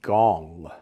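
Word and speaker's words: Ngong: Gong. That's how you pronounce it. The N is silent. Or kind of N. Gong. But Gong, you know. Kind of with a little G with a little bit of flavor on the front.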